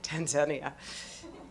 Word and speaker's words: Tanzania: We call it Tanzania, but they say Tanzania. And they correct you. Hi, it's so nice to be in Tanzania. No, it's Tanzania.